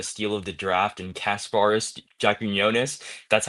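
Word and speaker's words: Kasparas Jakučionis: for getting the steal of the draft and Casparis Jakunis, that's how you pronounce his name.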